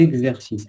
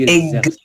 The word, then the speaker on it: exercice: Il y a pas grand-chose mais juste là les exercices. Rappelle-toi que le X entre deux voyz se prononcent au niveau phonétique comme un G et un Z. EG Z. EG exercice. EG exercice.